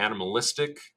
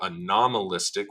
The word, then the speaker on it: Anomalistic: We also have the Animalistic, or Anomalistic would be the better pronunciation of that, lunar rhythms, which are going to be the Apogee and Perigee cycles.